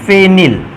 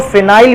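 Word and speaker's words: phenyl: बेटा C6H5 को कहते हैं फेनिल, या उच्चारण के लिए आप इसको फिनाइल भी बोल सकते हो।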